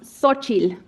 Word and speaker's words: Xochitl: So my name is Xochitl Gonzalez, and it is pronounced Xochitl.